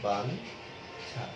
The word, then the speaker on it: বাঞ্ছা: তুমি ছয়ের সাথে যদি একটি দেখো, যেমন বাঞ্ছা, তাহলে এর উচ্চারণ হচ্ছে বাঞ্ছা।